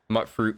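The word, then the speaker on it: Mutfruit: Mut fruit, mute fruit, however you want to pronounce it. Either way is technically correct.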